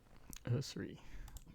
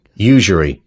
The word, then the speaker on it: usury: Usery. Usury.